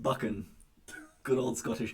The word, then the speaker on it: Buchan: Buchan is pronounced Buchan.